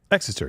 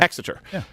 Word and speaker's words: Exeter: the university of cambridge and uh is it pronounced exeter exester yeah exeter they also found that higher testosterone levels increase